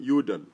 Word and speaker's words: Udal: John and then Udall is spelled U-D-A-L. So it's John Udall.